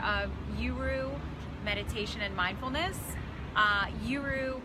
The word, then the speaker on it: YURU: guru meditation and mindfulness youru stems from it rhymes with guru and the tagline where